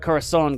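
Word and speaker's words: corazón: So sometimes I get that like screwed up, but corazon gets an accent on the O, yeah.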